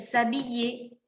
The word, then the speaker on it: s'habiller: Entonces va a tener una H y la H es muda, por lo tanto no va a interferir para que yo la tome como una H muda y que no tiene nada que ver con un sonido de vocal, por lo tanto voy